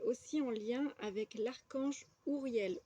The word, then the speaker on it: Uriel: en lien avec l'Archange Uriel ou Uriel que je vais vous montrer ici j'ai une toute petite photo voilà Urielle donc Uriel moi je prononce comme ça qui signifie lumière de